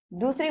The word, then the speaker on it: though: द THOUGH जिसका pronunciation होता है दो.